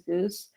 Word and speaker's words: GOOS: build you say goose we pronounce this as goose and this is the